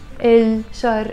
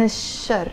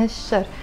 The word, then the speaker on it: الشر: I'm saying بعود عن الشر with a liaison, عن الشر. Like the L in إل شر is not pronounced because شر starts with the letter شين and شين is a sun letter.